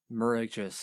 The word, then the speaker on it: Mirageas: not the only one it's mer uh just miraculous a lot of people get the uh get the last part wrong but it's uh it's pronounced like a j not so much as g that's that's where the